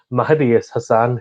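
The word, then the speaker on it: Mahedi Hasan: I'm going to really overpronounce his name, but to make sure that it sounds different, Mahdi Hassan, who has an A after the M, but that's the only difference.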